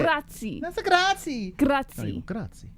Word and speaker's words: grazie: Yeah, you did say grazie. That's a grazie. Grazie. No, you go grazie. Grazie. Grazie. That's you're rolling your R.